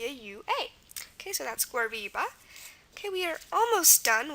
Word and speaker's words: guariba: Example is guariba, G-U-A-R-I-B-A, guariba.